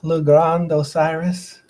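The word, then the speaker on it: Le Grande Osiris: Did I pronounce that right? Yeah, Le Grand Osiris.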